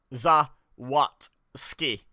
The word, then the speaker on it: Zawadzki: But to make a credible attempt at it, Zawadzki is not that difficult. Like, it's 3 syllables. Zawadzki. Ski is a word we know, so is what.